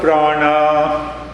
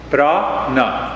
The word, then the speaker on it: prana: so when we talk of prana brah na two syllables this he sounds good